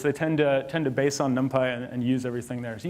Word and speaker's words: NumPy: If you want to do fast numerics in Python, everything depends on NumPy. And yes, it's pronounced NumPy, not NumPy.